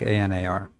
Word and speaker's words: Einar: It's like ANAR. If you want to think of it that way.